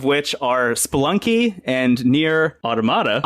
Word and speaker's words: Automata: Two games of which are Spelunky and Nier Automata. Automata. Yes. Yes, not Automata. Because that is the correct, that's how you pronounce the actual word. Yeah. But Automata is how it's pronounced in the game.